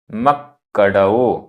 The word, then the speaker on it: मक्कडओ: जह जह मक्कडओ, आधा क पूरा क, मक्कडओ मक्कडओ।